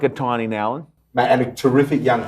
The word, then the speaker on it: Nowlan: You can't get Nowlan right. So it's Nowlan.